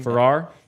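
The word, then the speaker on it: Farrar: Ferrar Ferrar.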